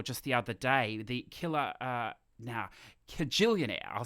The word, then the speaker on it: Kajillionaire: And another one that I saw just the other day, the Kajillionaire, I'll say it correctly, Kajillionaire, which is the latest Miranda July film, a